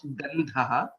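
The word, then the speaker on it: गन्धः: Gandhaha, Dha is a Mahaprana, and hence it becomes Gandhaha.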